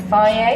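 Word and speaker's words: Fage: Basically a tuna wrap with mayo and faye. I think that's how you pronounce it. Yeah, faye, that's the first time I ever pronounced it. It's spelled with G, so I always pronounce it wrong.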